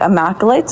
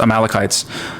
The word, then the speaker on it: Amalekites: those two clans the imites or was that how you pronounce it I think it's I think it's pronounced amalekites amalekites um they a lot